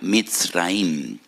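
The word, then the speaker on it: מצרים: esclavitud porque la palabra Egipto en hebreo se pronuncia mit raim y en hebreo hay dos MS dos letras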